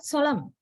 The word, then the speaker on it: solemn: uh the last word solemn solemn do you pronounce the last sound is the last letter in no it's not normally pronounced right is the final